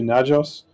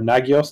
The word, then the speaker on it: Nagios: they've then plugged into najos and or nagios depending on how you want to pronounce it and that allows them